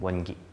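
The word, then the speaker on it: 원기: So it's pronounced yuanqi in Chinese and wengi in Korean.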